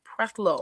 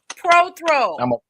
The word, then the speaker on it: Prothro: Prelo. I like the way you say my la. Prothrow. PROTHRO. IS IT ALWAYS SAID YOUR LAST name wrong? Is it Prelo or Prothrow? Prothrow.